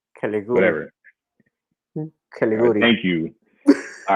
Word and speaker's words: Caligiuri: Another interesting bit, which I thought it was funny, Daniel Caligiuri, whatever. Caliguri. Thank you. All right, so I'm gonna f up everything I say phonetically.